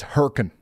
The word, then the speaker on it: Hurricane: It's easy, guys. Come on. Wrong. It's herin.